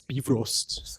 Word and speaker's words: Bifrost: And so when I said, "Oh, hello, we're Bifrost, Bifrost this, Bifrost that," all the Nordic people were like, "He's pronouncing it wrong. You know, it's Bifrost."